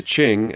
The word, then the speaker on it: Qing: did i say so q's are pronounced like chs the rise of the qing aka the manchus would